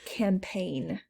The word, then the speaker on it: campaign: sound as i said the word campaign so i believe that goes with the silent g it's not a gh